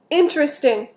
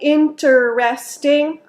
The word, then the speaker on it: interesting: recently be careful with interesting we usually don't say interesting we say interesting that's three syllables interesting not interesting so it's pushed together into three syllables interesting for example the